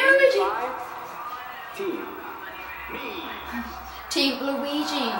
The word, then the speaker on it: Luigi: Team Luigi, it's pronounced.